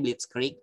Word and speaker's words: Blitzkrieg: Jerman namanya teknik blitzkrieg Gue lupa tulisannya kayak gimana Tapi tulisan Tapi bacanya blitzkrieg ini kayak teknik apa